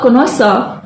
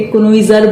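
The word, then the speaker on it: connoisseur: अगर आप इसका प्रोनाउंसिएशन अब तक गलत कर रहे थे, कोनोइजर बोल रहे थे या देख देख के कॉनिजर बोल रहे थे, तो अब मत कीजिएगा, इसको हमेशा से बोलते हैं कोनोसा, राइट?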